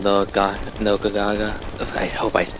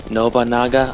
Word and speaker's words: Nobunaga: Speaking of Nobagaga, I think I butchered the name. Nobunaga? Nobagana? Nobunaga. Nobunaga? Okay, Yeah. Nobunaga.